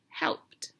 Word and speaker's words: helped: word in the word helped my base word is help and my ending and this time helped sounds like a t but it's spelled with an e d and my last word